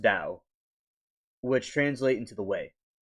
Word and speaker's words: Tao: Like the Tao means like something within you, you know, it's the inner energy within you and it's pronounced Dao which translate into the way.